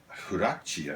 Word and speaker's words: Huarache: Huarache, I believe, is the correct pronunciation of these.